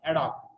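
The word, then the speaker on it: ad hoc: the requirement adopt plants a d h o c means adopt pronunciation is adopt so this is uh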